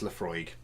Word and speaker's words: Laphroaig: a second it is it is pronounced Laphroaig sorry so and bring